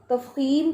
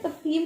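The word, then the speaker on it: تفخیم: अब आपको पता चल गया तफखीम किसे कहते हैं? ताफा खौ या मीम, तफखीम, तफखीम कहते हैं मोटाई को। ये लफ्ज़ आप प्रोनाउंस करें, तफखीम, तफखीम।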